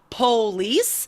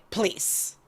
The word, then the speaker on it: police: That O, that first vowel, O, disappears, right? We don't say, there are some accents that might say police, Right. which Right. that's different. That's a different dialect, right? Yes. But we don't talk like that. We say police. Yeah, the police. It's kind of more of an sound, or it just disappears in a way. It just kind of blends into the L, right?